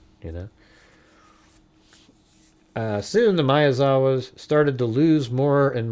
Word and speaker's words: Miyazawa: I know like the first thing out of the gate she doesn't say it right. Mayazaki I mean my god you know. Uh soon the Mayazawa started to lose more